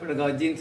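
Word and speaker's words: pedagogy: இதெல்லாம் கொடுத்துட்டா நம்முடைய பெடகாகி வந்துடும். இந்த பெடகாகின்னு சொல்லுவீங்களா, பெடகாஜின்னு சொல்லுவீங்களா? How do you pronounce this? ரெண்டுமே யூஸ் பண்ணுறாங்க. ரெண்டுமே யூஸ் பண்ணலாம், ரெண்டுமே யூஸ் பண்ணலாம்.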